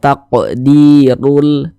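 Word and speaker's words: تقدير: Dalam kata "rul", jika huruf ro memiliki vokal dammah—ini disebut dammah atau tanda dammah—huruf ro dibaca tebal, dibaca tafkhim, sehingga bagian belakang lidah kita terangkat ke atas saat kita mengucapkannya. Kentalkan bunyi 'r': "taqdirul", "taqdirul", "taqdirul".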